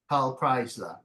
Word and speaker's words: Preisler: so you try again PA kryler yeah yes that is correct it's a German German name kind of so it's pronounced like you would read German EI I is i